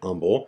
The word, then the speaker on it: Humble: They pronounced it Humble.